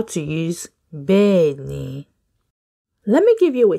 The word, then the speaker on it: Bẹ́ẹ̀ ni: say just think of the name Ben and you'll be fine you're like Ben Ben yeah so that's a tip Benny well done everyone now